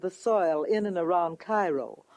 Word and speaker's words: Cairo: Oddly enough though, Illinois is sometimes referred to as Egypt because the fertility of the soil in and around Cairo or Cairo, giving it the Illinois pronunciation, resembles that of its Egyptian namesake.